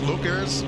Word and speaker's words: Leuchars: I actually have a friend of mine in Scotland that I asked ahead of time how to pronounce it. She said it's Leuchars.